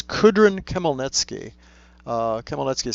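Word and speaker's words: Khmelnitsky: a good question it's kudrin Kim nki uh Kimel netki is spelled k h ml e I'm sorry m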